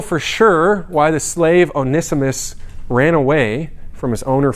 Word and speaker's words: Onesimus: college group back home we would call him onesie moose but that is not a correct pronunciation it is onesimus and his buddy onesie forest and first timothy also not a correct pronunciation onesimus is his name and one day he had